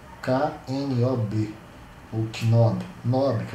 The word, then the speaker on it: knob: Esses dois outros botões, esse tipo de controle aqui, a gente chama de knob. K-N-O-B. Ou knob. Knob, que é o termo correto, a pronúncia correta.